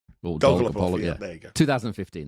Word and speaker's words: Dolgopolov: How did you pronounce his name? Dolgopolov, yeah.